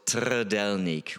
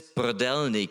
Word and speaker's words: trdelník: It's called trdelník with a T. Right, when I first encountered that, my friends were talking about it. I hadn't seen it yet, so they were just talking about it, and I was like, what are you talking about? What is this brdelnik?